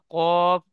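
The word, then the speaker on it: كاف: তাহলে ফা এবং কফ এর মধ্যে পার্থক্য হলো মা ফা কফ দুইটি অক্ষরের মাথা একপারে মাথা ঠিক এমন গোল মোড়া থাকবে।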